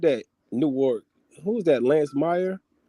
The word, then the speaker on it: Newark: Newark. Who was that? Lance Meyer. Who is that? Newark. Yeah. It's Nork, bro. Hey man, listen, just because y'all pronounce stuff funky don't mean make it right.